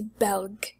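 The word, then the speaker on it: በልግ: So fall is belg, and summer is bega.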